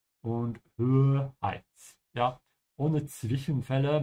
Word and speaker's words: Zwischenfälle: Ja, ohne Zwischenfälle, make sure to pronounce that T of the Z.